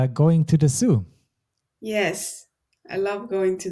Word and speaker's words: Zoo: If we have double O, it's quite rare in German, but we just keep pronouncing it as O. We don't change it to U like you would in English.